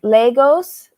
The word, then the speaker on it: Lagos: Wait, it's not Lagos. That's in It's Portugal. It's Lagos. Sounds like Lagos.